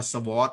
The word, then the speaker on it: sword: to eat vegetable จริงๆมันไม่ได้ออกเสียงอย่างนั้นนะ vegetable นะครับ vegetable Fetchable นะครับอันนี้ผมก็เคยออกเสียงผิดมาแล้วเนี่ยผู้ผิวอย่างเงี้ยนะไม่ใช่ออกเสียงว่าผู้ผิวนะผิวผกอ่านออกเสียงว่าผิวผกนะครับผิวผกคำนี้ก็เหมือนกันผมก็ออกเสียงผิดมาแล้วอ่านว่า sword อย่างเงี้ย sword ไม่ใช่ sword นะ sword sword นะครับตัว